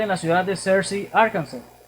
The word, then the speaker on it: Arkansas: la ciudad de Searcy, Arkansas, o Arkansas, como lo pronuncian ellos.